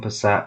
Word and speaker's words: Passat: So this is the Volkswagen Passat with homemade open trailer.